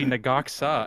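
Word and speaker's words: Ne-Gok-Sa: And then I heard somebody else, like 2 or 3 weeks ago, I heard somebody say Nagaksa, and I was like, that's the way that's pronounced?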